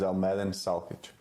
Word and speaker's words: Almedin Salkic: My name is Almedin Salkic. Cool. Could you spell that for us?